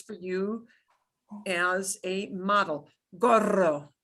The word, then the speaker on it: gorro: Oh, there's a strong R. Gorro. Oh my gosh. Ay, Dios mío. Okay, gorro. If you can only say gorro, goro. Okay, I'm trying to do goro. If you can only get out goro, don't worry about it. Goro. Gorro, gorro. Gorro. Yeah, that's a strong trill.